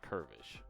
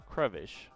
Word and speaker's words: Crevish: I'm mispronouncing him Curvish. Crevish.